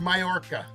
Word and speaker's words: Mallorca: million dollar yacht in mallorca mountain actually m-a-l-l-o-r-c-a yeah it's pronounced mayorka it belongs to russian